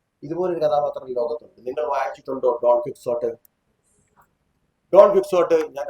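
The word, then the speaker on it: Don Quijote: ഡോണെ കീഹോട്ടെ എന്നൊക്കെയാണ് എന്റെ ശരിക്കും ഉച്ചാരണം. John ക്വിക്സോട്ട്, കീഹോട്ടെ.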